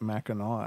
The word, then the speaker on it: Mackinac: No, my cousin lives in Michigan, and I'm pretty sure they pronounce it Mackinac Island. I don't know how they get the "o" out of that, but No, then again, there's Missouri.